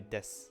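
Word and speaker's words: です: reactivate your voice box, it's easier to say when you just say des. So desu is des, except when it's desu, because people want to pronounce it. A lot of times you'll hear it on the phone as desu. If you listen to the Japanese person talk on the phone, they're always pronouncing their u at the end.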